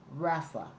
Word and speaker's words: rapha: A deeper meaning to being still The word be still originates from a Hebrew word that is pronounced Rapha, which literally means to let go, relax, or sink.